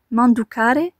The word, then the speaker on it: manducare: D'ailleurs, le verbe vient du latin manducare, donc ici on entend bien le man, comme dans manger.